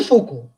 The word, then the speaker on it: Foucault: spellings very correctly so all these are the french names these are not english names and that's why the pronunciation is little bit different than the spellings now michelle foko who is actually the